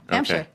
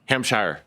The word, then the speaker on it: Hampshire: Hamshire. Hamshshire. No, not Shire. It's only like if you say we're going out to the Shire, then you can say that.